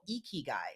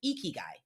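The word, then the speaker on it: ikigai: And and Jamal, you may be familiar with this term, but there's a term called eeky guy. Have you heard of that term before? No, I haven't. Okay, I'll spell it.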